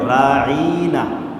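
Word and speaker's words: رَاعِينَا: করেন আমাদের কথা শোনেন কিন্তু যদি আপনি আইনের পরে একটা ইয়া বাড়ায় দেন কি বাড়ায় দেন ইয়া তাহলে তখন উচ্চারণ কি হবে রাঈনা কি হবেনা আইনটা তখন একটু টান হবে টান হবে না যারা কোরআন শরীফ পড়তে পারেন এখানে একটা টানের জায়গা আছে জের পরে ইয়া টানের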